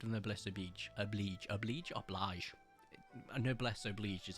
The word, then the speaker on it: noblesse oblige: A noblesse oblige is how it's said, although it's spelled oblige.